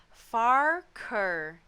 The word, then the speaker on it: Farquhar: so um the word the word farquhar is pronounced as far ker yeah